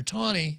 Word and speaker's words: Taney: People pronounce it Taney, but it's Roger Taney, Dred Scott versus Sanford.